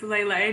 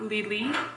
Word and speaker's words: Lele: They have a little accent on the E, so I'm assuming it's Lele, not Lili.